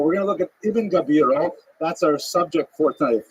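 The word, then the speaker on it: Gabirol: pointed out to me it's not I Gabriel it's gabiro or gavo it's I put the i in the wrong place so I changed everywhere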